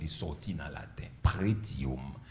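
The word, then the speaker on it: pretium: sorti dans la tête prétium P r e comme ça se prononce tium référence à la valeur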